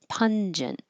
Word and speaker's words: pungent: next to each other go in separate syllables instead of pong it's pun at the end in the front and then a j pungent I put put this